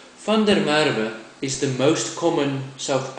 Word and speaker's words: van der Merwe: to pronounce my serame which of course is fer Mara fer Mara is the most common